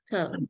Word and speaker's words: caught: In English, many times you will see two vowels written together Caught. and you think, oh, that's a diphthong, right? But it's not. It's just caught, caught.